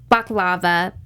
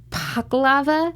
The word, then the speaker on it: baklava: a special way like most many people pronounce it baklava but you're supposed to like a P to it so it's puck lava a big taco lava